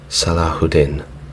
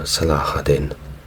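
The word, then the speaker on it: Salah ad-Din: from memory and say that is pronounced salahudin or salahadin correct me in the comments if you will now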